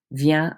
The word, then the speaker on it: vient: Because there's no vowel after those consonants on the singular side, you do not pronounce them. They all sound exactly the same. Vient, vient, vient.